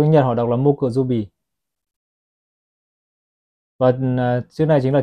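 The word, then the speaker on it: 木曜日: Theo tiếng Nhật họ đọc là Mokuzubi.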